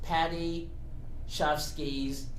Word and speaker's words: Paddy Chayefsky: Her first acting role was in it's pronounced Paddy Chayefsky's play called Middle of the Night, and it went on a national tour in 1957, and this was just a play.